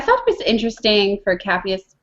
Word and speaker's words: Capheus: Capheus, yeah.